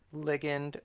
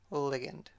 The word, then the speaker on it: ligand: While we're at it, there's a hot debate about whether to pronounce it ligand or ligand, and I'm just going to go with ligament, ligature, ligand.